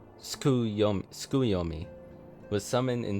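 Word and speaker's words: Tsukuyomi: So this suki suki sukuyomi wait she pronounced it skuyomi skuyomi was summoned in s much the same manner as susano via the medium of a sacred relic.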